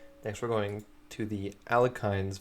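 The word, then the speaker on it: Alekhine: for going to the alkynes variation I'm not saying ali-okins because I don't think that's the right way to pronounce it you're an elitist if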